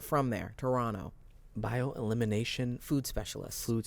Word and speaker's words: Toronto: you're supposed to say Toronto Toronto you're not supposed to pronounce the T spent a little time